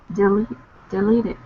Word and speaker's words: deleted: How to pronounce deleted? Right. Deleted. Deleted. Deleted. Good. It would be wrong to say deleted. It's not on the first syllable. It's delete, second syllable.